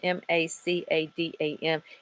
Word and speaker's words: macadam: how to pronounce that I looked it up for the pronunciation ma CA da m it means like a road of pebbles macadam I think is how you say it never heard of